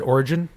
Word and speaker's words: Oregon: I prefer to pronounce it Origin. That's right. Soft G all the way, man.